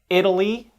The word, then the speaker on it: Italy: in italy is not stressed because the first syllable is stressed in italy let me say those words again italy with a tap sound because it's unstressed whereas